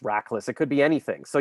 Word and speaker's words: Rachlis: the annual lunch and be like retchlease like she doesn't know my name and there is and there is no i mean we don't even know why it's pronounced rackless it could be anything